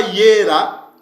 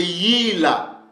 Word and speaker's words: Yila: C'est pas Yera, mais c'est Yila. Ok? C'est pas Yera, mais c'est Yila. C'est comme ça que ce mot s'est prononcé. Et c'est comme ça que nos pères le prononçaient.